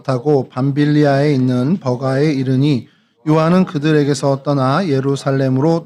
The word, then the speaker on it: 버가: 이 버가라는 곳은 이제 헬라어로는 페르게라고 발음을 합니다.